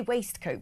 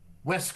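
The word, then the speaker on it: waistcoat: I say waste coat, but Rafe who knows more than everyone, so I'm pretty sure his pronunciation is correct. Says what? West.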